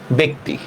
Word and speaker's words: ব্যক্তি: আরো দেখি আমরা, যেমন লিখলাম ব্যক্তি, দেখেন তো জফলার পরে রস্বই আসছে কিনা? জফলার পরে রস্বই আসছে, তাহলে উচ্চারণটা কি হবে? ব একার ক হসন্ত তরস্কার তি, ব্যক্তি, ঠিক আছে?